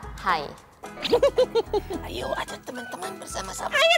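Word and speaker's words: 海: Bahasa Mandarin dari laut adalah hai. Iya kan, Lasya? Hampir benar, Pitan. Tapi Pitan masih salah nadanya. Pengucapan dari kata laut yang benar adalah hai.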